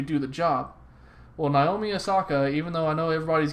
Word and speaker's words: Osaka: Naomi, how do you pronounce her last name? Osaka.